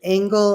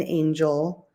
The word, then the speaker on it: Angel: I'm angle I pronounce it angle and Angel um originally it was